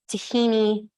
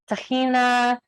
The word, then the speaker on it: tahini: to be making our tahini dressing. My boyfriend's family they're Jewish, and they refer to tahini as tahina. And so there's a bunch of different ways of pronouncing tahini. There's tahin, tahina, tahini.